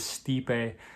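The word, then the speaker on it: Stipe Miočić: i did look up how to pronounce that before this video so you don't have to deal with me saying stipe or anything anymore it is stipe stipe versus francis naganu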